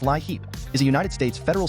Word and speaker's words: LIHEAP: The Low-Income Home Energy Assistance Program, LIHEAP, pronounced LIHEAP, is a United States federal social services program first established in 1981 and funded annually through congressional appropriations.